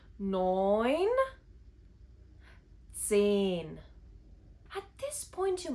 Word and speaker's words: neun: The combination of the vowels E and U make the sound oi, such as in neun.